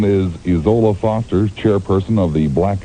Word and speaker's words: Isola: Name is Isola Foster, chairperson of the Black Americans for Family Values, located out of Los Angeles. Isola, am I pronouncing your name correctly, first of all?